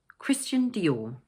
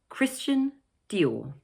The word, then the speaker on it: Christian Dior: The second word is also made up of two syllables but the stress is placed on the second one 'Dior'. So it's 'Christian Dior'.